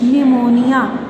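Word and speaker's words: pneumonia: पी इज़ not pronounced at the beginning of many words using the suffix side and PNE new. Psychology, निमोनिया, ये बहुत important dictation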